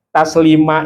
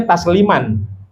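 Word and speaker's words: تسليما: Ah kalau disenandungkan dibacanya taslima boleh panjang. Tapi kalau diwiridkan, dibaca cepat ya kita bacanya tasliman.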